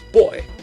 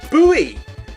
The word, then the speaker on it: buoy: But yeah, I know the word B-O-U-Y I know of as being pronounced as boy. Whereas I think Americans, at the very least, I think Americans, possibly Australians maybe, call it a buoy.